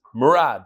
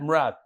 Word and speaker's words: Murad: First of all, the way he pronounced it is Murad, like Brad, Murad.